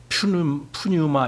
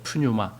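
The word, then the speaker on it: πνεῦμα: 사람들 그들이이 얘기를 들어봐도 이걸 퓨뉴마 이렇게 읽어요 프뉴마 제가 얘기했듯이이 피가 묵음입니다 헬라어 법칙에는 이것이 묵음으로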